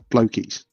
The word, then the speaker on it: Blokees: It's should be pronounced blokies. Look how it's spelled.